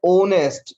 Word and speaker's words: honest: I met an honest. This word is pronounced honest, honest, honest. O. Initial sound is O.